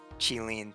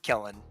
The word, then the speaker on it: Qilin: But it's definitely more like Hundun and Qilin than like Hundun and Killen.